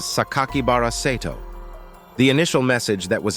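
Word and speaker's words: 酒鬼薔薇聖斗: red ink and included a six character name that can be pronounced as sakakibaraceto the initial message that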